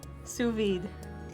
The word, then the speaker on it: sous vide: like the thickness of the lasagna it's like sous vide yeah sugar day is that how you pronounce it Brandon or Brandon yeah sous vide let's reaches the water Steven the water you